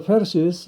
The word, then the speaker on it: Pharisees: The Pharisees investigate the healing. 그 페르시스들이, 이 발음은 F 발음이고요.